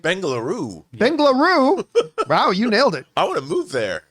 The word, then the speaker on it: Bengaluru: 30-y old man and I'm not going to pronounce this right bengoo bengoo wow you nailed it I want to